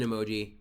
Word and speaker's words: emoji: clearly real quick uh in English it is Emoji where that second syllable is emphasized but in Toki pona